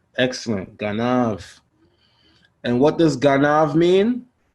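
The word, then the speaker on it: גנב: How would you pronounce this word? Ganav. Ganav. Excellent. Ganav.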